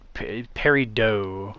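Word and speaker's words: peridot: jewelry industry, they uh they pronounce it per parido instead of paradot.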